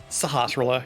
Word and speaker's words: Sahasrahla: Yep, and then there's always the chance that Sasharella, or however you say his name, Sahasrahla, yeah.